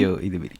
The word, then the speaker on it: Ayo Edebiri: Bueno, ahí nombre dudo de la pronunciación. Ayo Edebiri, sí.